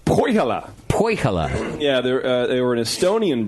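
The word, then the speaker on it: Põhjala: First one comes through from Dave in Portland, Oregon, about the, how do you pronounce this, JP? Pajala? Poihala.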